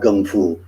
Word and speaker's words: gung fu: here because let's see the kung fu tv series with the k more people are familiar with that spelling that pronunciation than they are with gum food it's really pretty much us in the g condo world who um use the cantonese pronunciation with the g because of our connection to bruce lee everybody else uses the